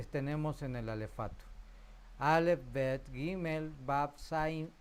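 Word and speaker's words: בית: La Bet puede ser tenue o aspirada, Bet.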